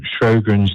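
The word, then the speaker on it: Sjögren's: It's Sjogren's disease.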